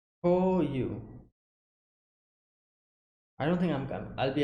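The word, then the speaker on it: 項羽: Okay, so his name is pronounced as Ko-yu. Ko-yu.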